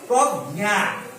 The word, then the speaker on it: প্রজ্ঞা: আর একটা শব্দ যদি বলি প্রজ্ঞা, প্রজ্ঞা, উচ্চারণ কেমন করছি? জ্ঞান, উচ্চারণটা কেমন হচ্ছে? জ্ঞান, প্রজ্ঞা। বৈকার্য উচ্চারণ হচ্ছে নাকের উপর দিয়ে জ্ঞান।